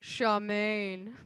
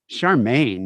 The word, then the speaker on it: Charmin: here we call it charmaine charmaine you say that that's how it's pronounced you'd be like like oh get get the charmaine but there's not it's not gonna spell that's not even spelled phonetically um well charmaine was